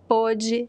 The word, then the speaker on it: pôde: the same word, but in past tense we pronounce pode, a third person, right? pôde e pode in present tense. So it's a very, it's tricky. You have to get that pronunciation of the letter O, open and close.